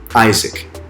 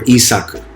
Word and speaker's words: Isaac: child they had was called isaac or isakku depends on if you want to get you know real technical with pronunciation and so the israel